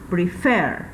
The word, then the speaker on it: prefer: Siguiente verbo, prefer. Prefer. Ok, tiene la mayor fuerza de voz en la última sílaba.